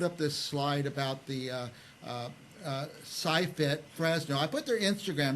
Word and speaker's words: SciFit: Well, listen, I wanted to say one more time that put up this slide about the SciFit Fresno.